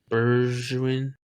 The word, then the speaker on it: Bergwijn: Bergwijn.